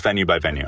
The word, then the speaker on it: VENUExVENUE: It's Venue by Venue.